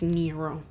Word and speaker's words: Nero: may cry nero that's how you say it's nero it's never out if you don't like nero